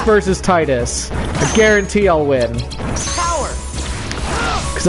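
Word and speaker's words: Tidus: I'm not a weed that's the ultimate argument is that pronouncing it T this is just the weave way of pronouncing it cuz we've like to pronounce things weirdly because they think it makes them sound more Japanese or something that's you know this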